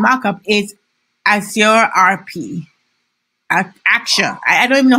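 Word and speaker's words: Axure: is as your rp action i don't even know how to pronounce it i sure actually want people call it action there's acts share s-h-a-r-e and his action uh i'm gonna go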